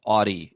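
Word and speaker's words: Audie: Audi or Audi? I don't know why I'm saying Audi. That's really insulting. Audi is how it's pronounced.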